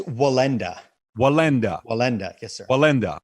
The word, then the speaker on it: Wallenda: the name my accent is hurting me from pronouncing your property it's wallenda wallenda wallenda yes sir wallenda okay i'm going